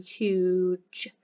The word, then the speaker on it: huge: got huge but actually this G is a naughty G so we need to make sure that when we pronouncing this we are saying huge it's a naughty G seen in the sound of the J so first of all